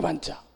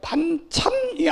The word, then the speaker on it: 반차: 아론의 반차, 멜기세덱의 반차. 이거를 잘 발음을 잘해야 돼요. 반찬이 아니고 반차.